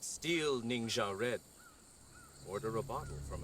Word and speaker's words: Ningxia: Ningxia.